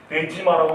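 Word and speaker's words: 出島: 일본말로 뭐라고 읽습니까? 데지마라고 읽죠.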